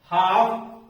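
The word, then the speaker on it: half: होगी काम वाम पाम लास्ट में एम आ रहा है इसके पहले एल आ रहा है तो यह एल भी साइलेंट हो जाएगा उसके बाद का हाफ में देख एफ आया है उसके पहले एल आया है इस तरह से अगर कोई इन अक्षरो में से रहे और उसके पहले ल रहे तो ये साइलेंट मोड में चला जाता है ये अक्षर साइलेंट हो जाता है याद करने के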